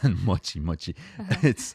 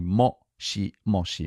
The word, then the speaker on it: moshi moshi: It's not mochi, like mochi, but Yeah, mochi mochi. And sometimes I hear people say mushi mushi, which is completely incorrectly pronounced. That's usually students of Japanese, but it's actually moshi moshi.